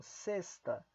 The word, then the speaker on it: sexta: X, ou seja, colocam sexta. O X está antes de uma consoante, então coloque uma letra S aqui.